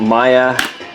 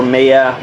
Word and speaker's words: Maya: We're on to Maya, or Maya, whichever way you prefer to pronounce her name.